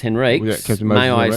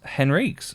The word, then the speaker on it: Henriques: on the subject pronunciation I never knew it was Henriques although his own reeks or Enrique's look Enrique's is probably the way you would pronounce it if he was playing soccer for Portugal yeah he was born in